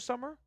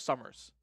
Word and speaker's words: Summer: I thought your name this whole time was Summers. Are you sure? Okay, so it's not just me then. I swear at some point I saw Summers. The S is silent. The S is there, but it's silent.